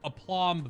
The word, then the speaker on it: aplomb: what does the word aplomb mean a plum oh the b is silent aplomb very well trick question